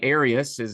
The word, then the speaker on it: Arius: Or the Arius Yeah. theology, or what's the right way to say that? Yeah, that's right. Arius is the man whose teaching